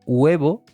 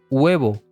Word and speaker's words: huevo: por ejemplo la palabra huevo que tiene una H al principio que no se pronuncia entendería de que la